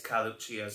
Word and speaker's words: Carluccio's: I'm guessing that two C's together is going to be an H, because that's generally what happens in Italian, isn't it? They always put a ch sound in where it doesn't belong.